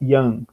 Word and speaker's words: Jan: se chamavam Jan, né, em português João, pronunciado Jan.